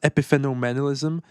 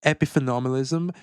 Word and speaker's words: epiphenomenalism: I think it's pronounced epiphenomenalism.